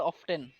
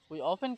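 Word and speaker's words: often: এখানে অনেকে উচারণ করে অফটেন। কি উচারণ করে? অফ এখানে টির উচ্চারণ হবে না বুঝছেন টিটা এখানে সাইলেন্ট থাকবে ওপেন কি হবে অফেন কাম হয়ার আমি প্রায়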